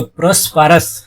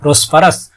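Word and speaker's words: prosperous: দেখো PROS প্রস, PR পার, OUS আস, প্রসপারাস, প্রসপারাস কথাটির অর্থ হচ্ছে সমৃদ্ধশালী, তাহলে তার পরিবার এখন সমৃদ্ধশালী ছিল।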